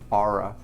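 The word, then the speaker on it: Oura: a great thing this or it's how to spell it o-u-r-a aura and it's really cool because it keeps track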